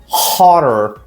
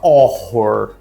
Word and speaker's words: horror: Uma palavra bem legal que eu gosto de usar para demonstrar isso é horror. Muita gente fala horror, mas não é. Esse H ele é goutural, ó. R hororr horor.